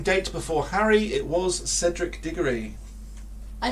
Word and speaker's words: Cedric: you mentioned it yes you did say kedrick that's not how to pronounce it cedric and where was dumbledore's